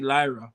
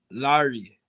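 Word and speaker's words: Laryea: fc we also have richie lyra but actually pronounce larry who is a defender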